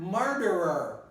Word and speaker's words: murderer: In the same case, very similar case, the word murderer. Murderer. People will pronounce this murderer. Murderer. Murderer. So murderer. And the word becomes a little shorter.